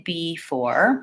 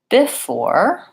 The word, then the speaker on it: before: I don't say before. That would be too even across the syllables. I actually say before, where the stress is on the second syllable.